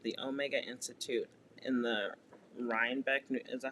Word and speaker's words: Rhinebeck: spiritual retreat at the Omega Institute in the Rhinebeck, is that how you pronounce it? Rhinebeck, yeah.